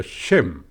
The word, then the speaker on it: Shem: que hablan lenguas semíticas el término viene del griego sem que se pronuncia shem shem fue un hijo